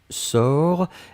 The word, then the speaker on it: sors: première personne du présent c'est je sors s o r s on ne prononce pas le s p on doit quand même l'écrire futur simple de l'indicatif